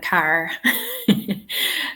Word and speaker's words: car: would say saw and car so um yeah think about the king of England he would spell it c a r with an r he just wouldn't pronounce the r um but I would um Okay.